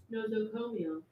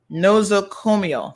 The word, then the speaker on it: nosocomial: So let's get the correct pronunciation. Hold on. Nosocomial. Nosocomial.